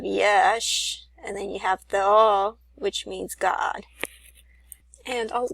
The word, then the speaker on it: Theo: It's actually Theo, which means God. That's how it's pronounced in the Greek.